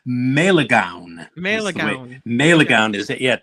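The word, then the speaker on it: Malegaon: Yeah, it's Melegaon. Melegaon is it? Yeah, it took me a while to learn how to pronounce that.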